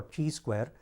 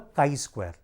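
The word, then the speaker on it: chi-square: when we pronounce it we don't call it as Chi square or CH Square rather we call it as the kai Square so when we write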